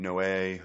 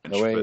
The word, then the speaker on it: Noé: Noé, it's French. Noé, yeah, that's right.